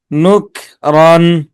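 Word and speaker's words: نكرا: নুক রন, নুক নুক রন। শাই আন নুক রন। শাইআন নুকরান, কলকল হবে না তো, পাতলা হবে।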